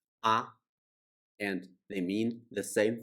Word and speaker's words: 啊: the model particle ah is used at the end of declarative sentence it is pronounced in neutral tone and it doesn't have